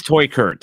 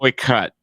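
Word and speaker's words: Teuchert: It is Toykert. He prefers Toykert. Okay, and technically it's like Toy Cut. It's like, but we're American. We don't say it like that.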